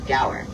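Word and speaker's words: gaur: In that huge pasture, we'll be on the lookout for some very large cow-like animals known as the gower. And that's spelled G A U R in case you were curious.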